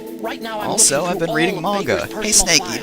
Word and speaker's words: manga: also I've been reading manga hey snake you know it's pronounced manga right not manga I can't believe anyone